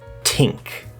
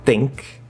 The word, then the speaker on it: think: do not i repeat do not replace the th sounds of any kind with a normal t or d this sounds very uneducated